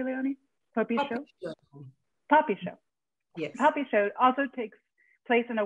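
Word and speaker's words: Popisho: humanity leonie ross's puppy show takes am i pronouncing that correctly leonie poppy show yes puppy show also takes place in a world set apart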